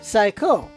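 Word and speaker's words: 最高: Strongest is pronounced Saikyo, and best is pronounced Saiko. So just that little Y there is the only difference, and Kirby didn't hear the Y, I guess.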